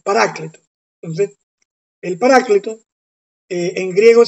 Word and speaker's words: paráclito: mantener el término paráclito nos cuesta porque la fuerza de la costumbre del paracleto no es paráclito Entonces el paráclito en